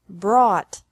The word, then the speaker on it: brought: Bring, brought, brought. Buy, bought, bought. Catch, caught, caught. Fight, fought, fought. Seek, sought, sought. Teach, taught, taught. Think, thought, thought. Remember that the G is silent in these verbs.